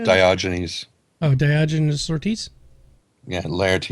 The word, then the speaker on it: Diogenes: moving on to the questions let's see it's pronounced diogenes oh diogenes orti yeah lares is a character